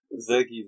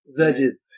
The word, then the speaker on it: Xerges: It rhymes with Lurgies. No, Zerges doesn't rhyme with Lurgies. Zergies rhymes.